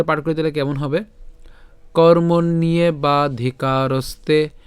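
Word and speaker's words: কর্মণ্যে: ভাঙ্গার চেষ্টা করেছি তো প্রথমটা একটু খেয়াল করুন উচ্চারণটা কেমন হচ্ছে কর্ম নিয়ে ওই যে বলেছিলাম আমরা মূর্ধন্য পর্যন্ত উচ্চারণ করব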